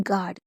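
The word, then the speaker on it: guard: उसके बाद गार्ड, गार्ड में हम आ का डंडा क्यों पढ़ रहे हैं? क्योंकि जी को हम गा पढ़ रहे हैं, ठीक है, और यू को हम पढ़ते नहीं हैं, और ए को हम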